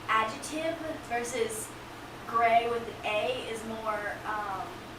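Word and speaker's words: Griegh: run deep right costumes says gray but spelled g-r-i-e-g-h hold on did you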